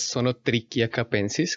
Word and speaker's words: Zonotrichia capensis: su nombre científico es song o tricky a capensis como es un nombre que está escrito en latín base la h no se pronuncia como un h sino como una c solo trick ya capensis